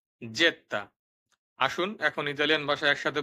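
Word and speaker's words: zeta: হবে ভু সর্বশেষে আছে জেত্তা যাকে আমরা জেড বলে আগে চিনতাম জেত্তা আসুন এখন ইতালিয়ান ভাষায়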